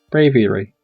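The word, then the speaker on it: Braviary: Bravary. That's how you pronounce that.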